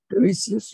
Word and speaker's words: Tiresias: Even in Greek mythology, as you know, Tiresias, is that the way you pronounce Tiresias? Tiresias, yeah.